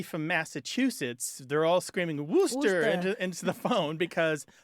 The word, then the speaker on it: Worcester: okay so anybody from Massachusetts they're all screaming woster into into the phone because there is a